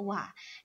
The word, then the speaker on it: は: lihat ada PA channel Wah Nah teman-teman mungkin bisa membaca ini adalah h dalam hiragana ya teman-teman namun di sini fungsinya sebagai partikel yang mana cara membacanya adalah wa seperti itu ya teman-teman kemudian